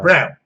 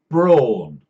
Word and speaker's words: Braun: Brawn. And they're called Brawn by themselves. I've seen adverts on Eurosport. In English Eurosport, the advert pronounces it Brawn.